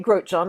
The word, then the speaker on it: Grotjahn: So yeah, so my name is Grotjahn, and I'm just saying that because people look